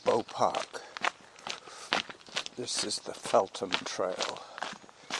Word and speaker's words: Feltham: This is the Felum Trail. F E L T H A M. The felum pronounced felum. It's a bit like Anthony and Anthony. It's the sometimes silent h.